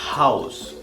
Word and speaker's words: Haus: La H siempre también al principio de la palabra se va a pronunciar como un suspiro, como una H. Das Haus, der Hamster.